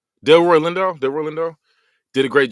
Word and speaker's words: Delroy Lindo: Leroy Leroy Lindo, I think you say his name. Del Roy Lindo.